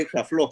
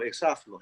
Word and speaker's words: Exaflos: Y increíble que tenga esas dos acentuaciones, porque bueno, yo lo pensé Exaflos, pero se ha dicho mucho Exaflos, así que está muy bien. Y de eso se trata, de repente poner el acento en otra sílaba.